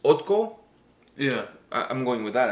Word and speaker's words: ODDKO: But anyways, the name of the band, I believe, is pronounced ODDKO.